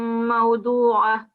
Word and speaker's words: موضوعة: I think if you're pausing here, the ta marbuta will convert into a ha sound. So it will be وأكواب موضوعة.